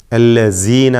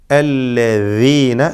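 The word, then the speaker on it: الذين: എന്നാൽ മറ്റൊരു വലിയ അബദ്ധം ഇവിടെ സംഭവിക്കാറുള്ളത് ദാലിനെ സായാക്കി പറയും, അല്ലസീന എന്ന്. ഇത് വലിയ അബദ്ധമാണ്. അങ്ങനെയൊന്നും സംഭവിക്കരുത്. ദാലായി തന്നെ പറയണം, അത് ദാലോ സായോ ആയി പോവരുത്, സൂക്ഷിക്കേണ്ടതാണ്. അല്ലദീന എന്ന് വ്യക്തമാക്കി ഉച്ചരിക്കുക.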